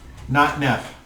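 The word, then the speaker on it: Notnef: town was not enough that's what not now not neff not enough please spell that n-o-t-n-e-f that's what i thought thank you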